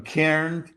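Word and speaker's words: Cairns: We were up in Cairn, the way they pronounce it, I guess.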